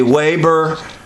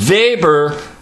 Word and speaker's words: Weber: you want to say Waber but actually is pronounced very with a V sound Max Weber proposes his Protestant ethic